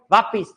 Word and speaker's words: वापस: अगला देखो वापिस, ये वापिस मैं वापिस आऊंगा नहीं, वापस मैं वापस आऊंगा।